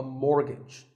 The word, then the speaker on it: mortgage: to buy a house so which letter is silent here it's the t the first syllable is more and the second is gitch so mortgage number 27 is this